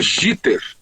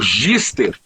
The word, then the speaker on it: jitter: O nome é jitter, J-I-T-T-E-R, jitter. E na hora de digitar, se escreveu gister. Ao invés de jitter, ficou gister, né?